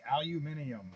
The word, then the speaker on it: aluminium: Well, that's how they say it in the UK. Aluminium. They even spell it that way, too.